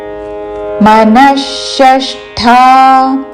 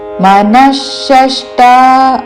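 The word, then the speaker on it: మనఃషష్ఠా: మనశష్టా నీంద్రియాణి మన రస్వములు విసర్గ తర్వాత మూర్ధన్య ష తో పదము మొదలవుతున్నది కాబట్టి విసర్గ ఉచ్చారణ మూర్ధన్య ష మనషష్ట మనషష్ట అనకూడదు షష్టా మనషష్టా నీంద్రియాణి నీంద్రియాణి ని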